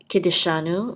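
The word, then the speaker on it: קִדְּשָׁנוּ: which says ki, and a daled with a shava. We're going to sound the shava, so we're going to say ki de, and this is a shin with a kamatz, which will say sha, ki de sha, and this is a noon with a vav and the dot through it. We'll say u, ki de shanu, and Kiddushanu means who sanctifies us.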